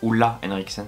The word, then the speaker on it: Ole Henriksen: Du coup la barrière booster orange ferment essence, donc c'est une essence de chez Ole Henriksen, Ola Henriksen ça se prononce.